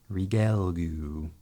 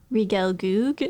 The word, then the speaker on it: Rigelgu: At first, I really thought that it was supposed to be Rigelgug, and you were leaving off the last syllable for some reason. No, it was in fact Tomino who left off the final syllable for some reason. Sasuga Tomino? Ri here is short for refined, so it's the refined Gelgug or the Rigelgu.